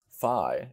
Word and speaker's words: phi: Phi is a consonant with differences in Erasmian and ancient pronunciation. In Erasmian pronunciation, it is pronounced like the F in fish. In ancient pronunciation, it sounds like the P with an H after it, similar to the PH in uphill.